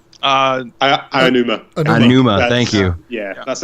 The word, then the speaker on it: Aonuma: Aonuma.